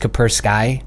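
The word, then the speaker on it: Kaspersky: ski cap our ski I've never really been able to pronounce that properly I think it's just capper sky and I'd like that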